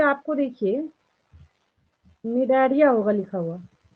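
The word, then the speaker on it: Cnidaria: Second position पे आपको देखिए निडारिया होगा लिखा हुआ, यहाँ पे सी साइलेंट होता है, ठीक है।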